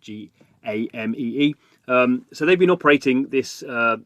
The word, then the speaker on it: Gamee: So the company behind it, called Gamee, I think it's how you pronounce it. It's game with another E at the end, Gamee.